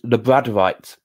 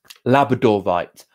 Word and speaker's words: labradorite: of the week is lebron right labradorite i will say it right one day i will um i always say um lebron writes and it's labrador right because it was first discovered in labrador so the name of